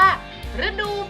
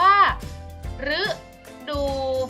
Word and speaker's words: ฤดู: ตัว รอ รึ อ่ะ คำ นี้ อ่าน ว่า ฤดู ฝน สะกด คำ ว่า รึ อู ซื้อ ดู ดู ใช่ ไหม ฝน น่ะ อ๋อ โอ๊ะ น้อ ฝน อ่าน ว่า ฤดู ฝน คำ นี้ ออก เสียง เป็น รึ อีก รอบ ออก เสียง เป็น รึ นะ จ๊ะ อ่ะ อีก คำนึง